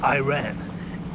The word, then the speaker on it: Iran: And he's from Iran, or as the Americans say, Iran.